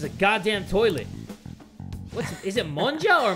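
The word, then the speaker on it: もんじゃ: Is it monja or monya? Thanks for hanging with me, man. Well, it has to be monja because Japanese, they pronounce the J.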